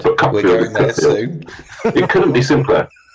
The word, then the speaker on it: Cuckfield: I was doing the Cookfield Book Festival, or as my publisher calls it, the Cuckfield Book Festival. Cookfield is spelled C-U-C-K, field, and people cannot handle the fact that it's Cookfield.